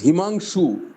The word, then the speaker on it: Himanshu: सर ने कहा, हिमांशु सर ने, am I pronouncing it rightly sir? Himanshu or Himanshu? It is Himanshu.